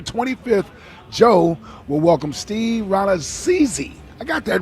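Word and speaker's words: Rannazzisi: Thursday, September 25th, Joe will welcome Steve Ranazizi. I got that right cuz he spelled it out phonetically for me.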